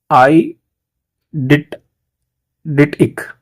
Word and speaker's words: eidetic: पहला वर्ड है, इसके प्रोनाउंसिएशन का आपको ध्यान रखना है। आई डिटिक, तो आई डिटिक बोलते हैं। आईडिटिक, आईडिटिक का मतलब सिंगल डी आएगा।